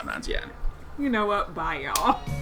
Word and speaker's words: Nanjiani: It's Kumail Nanjiani. I apologize. Nanjiani. There's a little bit of emphasis on the I.